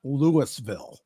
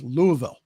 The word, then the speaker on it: Louisville: on Saturday in Louisville it's not Lewisville it's Louisville got to pronounce it